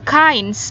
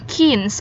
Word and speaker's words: kinds: kinds of books oke jadi ini caynes bacanya bukan kinds Oke There are many